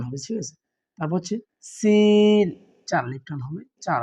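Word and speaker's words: سين: হচ্ছে জলে টান হবে ঠিক আছে তারপর হচ্ছে সিন চার আলিফ টান হবে চার আলিফ টেনে পড়বেন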